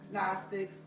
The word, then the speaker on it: Gnostics: Always put the G on there. You're not supposed to say it like that. Gnostics.